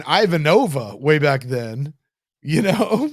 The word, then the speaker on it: Ivanova: okay I think it's the fact that he pronounces her name avanova avanova that's the that's the worst that people want to get on us for saying Ivanova way back then you know like yeah she's